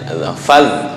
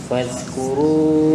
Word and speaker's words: فاذكروا: وزادكم في الخلق بسطة فاذكروا Apa zal ya? Faz. Bukan faz. Faz belum biasa. Beda ya. Faz. Fadhkuru Bukan faz. Faz. Fadhkuru ala Allahi la'allakum tuflihun. Oke, untuk fadhkuru dal apa ya? Tadi terlalu kaku condong ke dal yang terakhir yang di awal-awal bercampur dengan sin. Nah, lenturnya gimana?